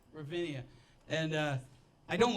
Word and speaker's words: Ravinia: Ravinia.